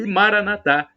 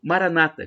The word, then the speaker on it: Maranata: providenciar Acredite e Maranatha como dizem os católicos com a tônica na penúltima sílaba sílaba ou Maranata com a tônica na a penúltima sílaba dito pelos Evangélicos ou protestantes então protestantes evangélicos coloco a tônica na penúltima sílaba falando Maranata católico coloca uma tônica na última sílaba dizendo Maranata importa somos todos irmãos